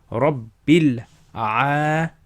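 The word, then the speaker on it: رب العالمين: So you join that alif is silent. Bil a lamina. Bil a lamina. So if you say it all together. Rabbil alamina.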